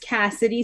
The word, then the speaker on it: CassieD: It's pronounced Cassidy still. I just Cassidy. wanted a fun way to spell it.